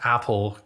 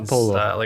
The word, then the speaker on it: Apollo: For anyone who's listening to this, we're talking about Apollo, not Apple. Gail's pronunciation. Apollo.